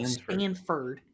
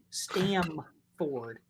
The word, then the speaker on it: Stamford: Not Stanford. Stamford.